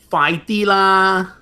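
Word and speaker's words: 快啲啦: you should tell him, "Fai di la, Fai di la, fai F-A-A-I, fai di, like the letter D, but you say it short and loud.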